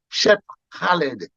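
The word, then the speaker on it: Cheb Khaled: And I did an album for another guy named Shep Khaled, like DJ Khaled. It's spelled the same way.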